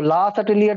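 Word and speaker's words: Le Chatelier: ठीक है, तो ला सर्टेलियर प्रिंसिपल लिखेंगे। ला, इट is French pronunciation, ला सर्टेलियर principal. Some people used to say it's La Chatelier, but it is La Chatelier principle, La Chatelier principle.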